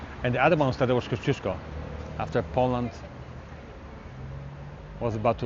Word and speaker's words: Kościuszko: And we're going to go see the museum of Tadeusz Kościuszko. That's how you say it. Say it after me. Tadeusz Kościuszko.